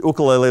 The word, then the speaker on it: ukulele: take your pick but it is the actual pronunciation Ooka Lily and those of you old enough to remember